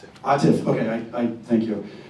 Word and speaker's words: Atif: Um, am I pronouncing your name correctly? Atiff. Atiff.